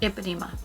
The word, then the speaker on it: Ipanema: Ipanema.